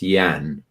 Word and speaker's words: Jan: now as well delore pronounce it correctly please it's yan yan it depends where it depends where you're from all right Newcastle oh